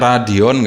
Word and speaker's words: Radion: pabrik ini bukan bopeng Ini radion radio radio tambah n jadi bacanya Radeon ganti ya Oke ini